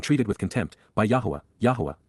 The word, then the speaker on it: Yahowah: Yahwa, God's personal and proper name, pronounced Yahwh based upon haya to exist.